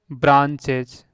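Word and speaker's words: branches: यानी कोई भी वर्ड हो लास्ट में इएस आया ना तो उसको ज्यादातर ज पढ़ते हैं। यह ध्यान रखिएगा। ठीक है? इसका मैं प्रोसेस लिख देता हूं। ब्रांचेज तो ब्रा या ना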